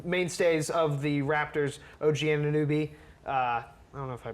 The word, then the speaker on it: Anunoby: Some mainstays of the Raptors, OG Anunoby. I don't know if I pronounced that It's right. Anunoby.